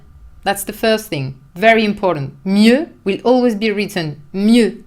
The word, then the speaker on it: mieux: Mieux is a little bit difficult to pronounce because you have this closed E. Mieux.